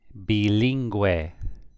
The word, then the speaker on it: bilingüe: Now here, comparing 5 and 6, you have G-U-E, but this U has the two dots, the diéresis. Here, it does not. G-U-E, so the U is silent.